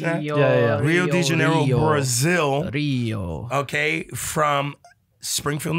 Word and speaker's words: Rio de Janeiro: I pronouncing that? Yeah. Rio de Janeiro, Brazil.